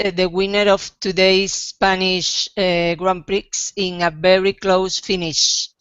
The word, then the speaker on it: Grand Prix: The X is silent.